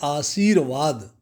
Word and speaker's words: आशीर्वाद: आशीर्वाद, शुद्ध उच्चारण है आशीर्वाद।